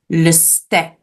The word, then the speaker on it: le steak: Instead of a long vowel sound, it makes a short vowel sound. In French, we pronounce it le steak.